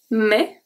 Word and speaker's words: mais: Mais, so I don't say mess, so the S is silent.